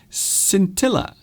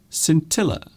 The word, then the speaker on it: scintilla: Now this one has an interesting spelling, but also it has an interesting pronunciation as well. Scintilla. Scintilla.